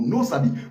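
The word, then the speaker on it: NOSABY: sens et lorsque tu utilises mon code promo nosabi pour ton premier envoi si tu résides en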